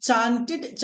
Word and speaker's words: chanted: వాంటెడ్, హంటెడ్, navigated, frustrated, chanted, legislated, motivated. Even whenever we find TED at the end of any English word, that TED must be pronounced like TID. So, చాంట్, చాంటెడ్, చాంటెడ్.